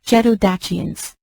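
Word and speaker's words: Geto-Dacians: and gdations in the video the original correct pronunciation for Dacia is stachia and frigidations it is gedodachians we made this deliberate choice to help viewers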